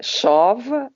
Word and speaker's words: SOV: that she's involved in leading, which is the SOV, the stable currency of the Republic of the Marshall Islands.